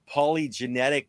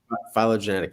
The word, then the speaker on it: phylogenetic: Well, and that actually brings us to this little diagram, the polygenetic tree, or is that how you pronounce it? Phylogenetic tree.